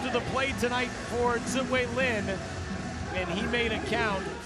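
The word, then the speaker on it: Tzu-Wei Lin: a free agent, and in the U.S. it's pronounced Ziwei Lin, given the pronunciation guide by Richard Wong.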